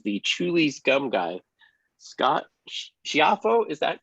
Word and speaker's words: Schiaffo: Scott Schiaffo, is that correct? Did I pronounce that right? Giaffo, yes. That's Italian, right? It sure is. The pronunciation, official pronunciation, which nobody uses, is Schiaffo, but it's Schiaffo to most Americans.